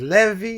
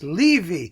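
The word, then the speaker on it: Leevi: pronounced his name wrong i said it was levy it's leavey i always thought it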